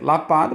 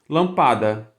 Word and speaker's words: lâmpada: Se você pronuncia mais uma vez se você pronuncia Lapada você deveria pronunciar lâmpada e assim seria a pronúncia se não fosse